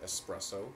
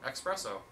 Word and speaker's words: espresso: mile in the recording did you hear him pronounce the X in the word espresso espresso s espresso I heard him say there's no X there's no X I